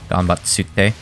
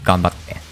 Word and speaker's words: ganbatte: The tsu was a small tsu, meaning it just doubles the next syllable, by the way. So rather than ganbatsute, it's ganbatte. Maybe that's what someone meant